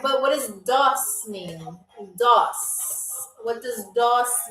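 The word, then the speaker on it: дос: So, our last word or phrase is pronounced doss. Doss.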